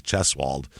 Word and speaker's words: Cheswold: s w l d cheswald and I'm pretty sure that's how it's pronounced because they tell you why it's called that so it makes sense uh Delaware's a big